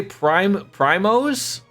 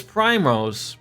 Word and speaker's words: Primrose: Primose? Her name is Primrose.